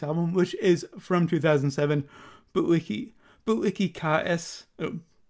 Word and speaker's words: Bu-ikikaesu: I'm changing the pronunciation to what it is on the album. I realized it was different from what I was saying last time, because I forgot that the U at the end of a lot of words in Japanese is silent.